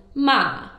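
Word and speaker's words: 骂: But if you pronounce with a high falling tone, ma, it means scold.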